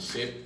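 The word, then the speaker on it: 셋: Viu que a gente não pronuncia a última letra, né? O Se, Ne.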